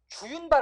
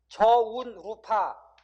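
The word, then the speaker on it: 저우룬파: 쉽게 말하면 주윤발 아니고 뭐라고 해야 된다고 여러분? 저운루파. 중국 발음으로는 저운루파래요.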